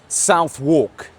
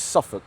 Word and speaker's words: Southwark: We're outside Muscle Works Southwalk. No, I'm only joking. A lot of you guys have said that's the wrong pronunciation. It's Muscle Works Suffukk. Suffukk.